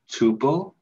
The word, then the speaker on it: tuple: It begins with a T and rhymes with oople. Tuple?